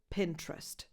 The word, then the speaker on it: Pinterest: The trick here is simply to remove the second vowel, the E between the first T and the R. Pinterest.